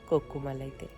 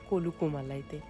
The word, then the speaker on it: Kolukkumalai: ওখানে গিয়ে একটা ফর্ম ফিল আপ হয়, তো সেই ফর্মটা ফিল আপ করবো, দেন আমরা যাব সোজা কলুকুমালাইতে, সরি কলুকুমালাইতে। উচ্চারণটা একটু গন্ডগোল হচ্ছিল আমার।